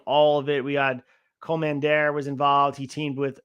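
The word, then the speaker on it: Kommander: out and said that he wants his name to be pronounced Commander, which is interesting because he made it clear on the ROH commentary.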